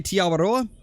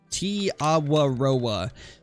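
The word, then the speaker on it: Te Awaroa: That's how I was told how to say it by my New Zealand viewers. And so that's kind of just how I've said it ever since. It's like Ti-a-wa-ro-a. Ti-a-wa-roa. And then you kind of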